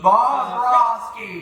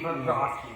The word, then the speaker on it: Bobrovsky: Bobby, I don't know how to pronounce his name. Sergey Bobrovsky. Bobrovsky.